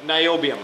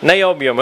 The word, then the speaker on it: niobium: you got to remind me how do I pronounce this M El niobium niobium okay I'm thinking where do I use it